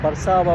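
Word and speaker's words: Warszawa: police তারা কিন্তু এটা ওয়ারসো বলে না তারা বারসাবা বলে আমরা যেহেতু উচ্চারণ করি ডবলিউ ওরা উচ্চারণ করে ব্যাটস মিন্স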